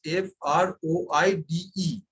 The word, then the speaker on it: froide: So now the spelling is F-R-O-I-D-E. So we have known early in the earlier classes that whenever there is an E at the end of a word, then the previous consonant is pronounced.